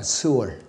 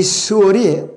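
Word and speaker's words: שאול: 자, 그리고 성경에서 지옥과 음부를 뜻하는 단어는 구약의 히브리어로 스올이라고 발음합니다. 스올. 신약의 헬라어로는 하데스라고 발음합니다. 이 스올이 구약에서 쓰일 때는요, 스올이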